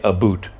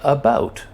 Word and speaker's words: about: lifetime as a Canadian, I've never heard anybody say a boot. I mean, I don't get it. I don't say a boot. We say about, just the same as Americans say about. So anyway, I've never understood where the whole a boot thing came from. But it is a stereotype that Canadians say a boot.